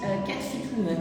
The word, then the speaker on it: Cat Fit Woman: Cat Fit Woman, comme ça se prononce.